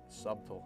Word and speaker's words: subtle: subtle subtle subtle subtle how do you pronounce that it's spelled with a b it's you know subtle subtle i'm just getting